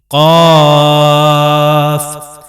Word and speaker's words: ق: یہ دیکھ سکتے ہیں، قاف جو ہے اس کے اوپر مد ہے، اس کو لمبا کریں گے، قاف والقرآن المجید بل عجبوا